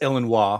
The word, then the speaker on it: Illinois: It's Illinois, first of all. So pronounce it correct.